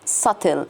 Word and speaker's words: subtle: allegiance so this is subtle subtle the b is silent subtle religious references and